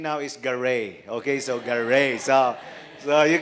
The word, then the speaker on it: Garay: Garre so that's how they pronounce it here in the Philippines but since I live now in the US for 21 years my last name now is Garre okay so Garre so